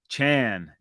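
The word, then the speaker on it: Achane: But he let us know that it's uh, Chan, Devon Chan.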